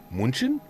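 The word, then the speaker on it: München: Munchin. Munich. You say with a proper German accent. Munchin.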